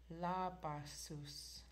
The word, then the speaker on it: labasus: La basus, Labasus. Labasus. It literally translates to, because we don't have an R in Kwakwala, so your R is pronounced with an L.